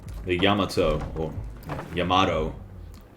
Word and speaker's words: Yamato: Looks like the Yamato or Yamato. Yamato is definitely the wrong pronunciation because, like, emphasis should be on the first syllable of the Ya.